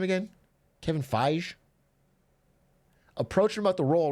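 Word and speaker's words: Feige: Kevin Fage.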